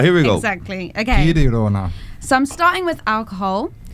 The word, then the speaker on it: Girona: Girona, because it's in Catalan, not in Spanish. But let's not start that debate. No, but thank you. So Girona, here we go. Exactly. Okay. Girona.